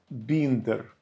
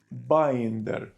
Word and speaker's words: binder: А чули слово біндер? До речі, його неправильно вимовляють. мають вимовляти binder.